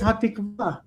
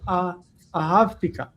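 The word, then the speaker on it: התקווה: But it says hatikva, and he read ahavtika.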